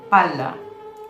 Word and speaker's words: palla: Double consonants matter. In Italian, pala and palla are different.